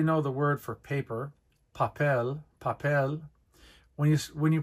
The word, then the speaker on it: papel: Vow you probably know the word for paper papel papel when you when you pronounce the word papel you don't say papel papel you say papel you're stressing the e